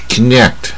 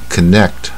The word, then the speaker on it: connect: 发音不是英式发音。Connect 啊，连接啊，它的窍门就是这个半卷舌 Connect 啊，动词。